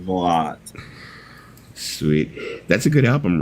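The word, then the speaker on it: Valotte: It's Velote. It's Velote. Okay. I don't think I've ever pronounced it correctly in my whole freaking life. 2 T's makes the E silent. Velote.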